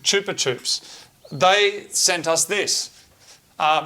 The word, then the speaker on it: Chupa Chups: chup Chups Chupa Chups I found out it's pronounced good Chupa Chups they sent us this